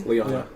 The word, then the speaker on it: Lyanna: Real quick, how do you pronounce her name? Lyanna.